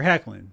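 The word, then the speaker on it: Hoechlin: this time it's tyler heckling the o is silent so from now on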